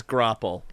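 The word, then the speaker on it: graupel: And It they're all- is grapple. I looked it up. It is grapple? Thank you, Thank you. Google pronunciation.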